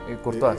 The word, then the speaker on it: Courtois: Es decir, hay un libro de Stéphane Courtois, creo que se pronuncia, ¿no? Yo no hablo francés. Courtois, sí.